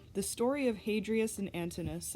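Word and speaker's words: Antinous: story of hadrias and antonus i don't know if i said antonus right but it's it's not pronounced antonius so yeah the book is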